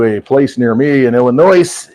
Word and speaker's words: Illinois: place near me in Illinois Illinois s is silent for all of you